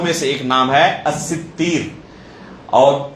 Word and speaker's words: الستیر: نام ہے الستیر، اور اس کا ایک دوسرا ضبط بیان کیا گیا الستیر۔ اسی کو بعض لوگ الستار کہتے ہیں، یہ تلفظ صحیح نہیں ہے۔ اللہ رب العالمین کا کوئی نام الستار وارد نہیں ہے اس تلفظ کے ساتھ۔ صحیح نام کیا ہے؟ الستیر یا الستیر، سین، تا، یا اور را۔ یہ تا کے بعد الف نہیں، یا ہے۔ الستیر یا الستیر دونوں طرح پڑھا گیا اسے۔ ستیر کا معنی کیا ہوتا ہے؟